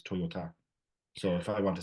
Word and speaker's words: Toyota: say Toyota as the car, but it's Toyota.